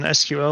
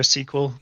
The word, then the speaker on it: SQL: Then SQL or SQL. Both are valid pronunciations that I've heard throughout my career.